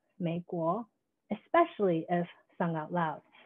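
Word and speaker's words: 美国: To push this reading further into the realm of the oral, we can see that the Mandarin pronunciation for rose, mei gui, sounds eerily similar to that of America, mei guo, especially if sung out loud.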